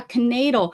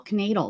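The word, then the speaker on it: knaidl: about that before oh look maybe you're yeah canal and that's how we pronounced it k n a i d l canatal that's how we pronounced it okay which that's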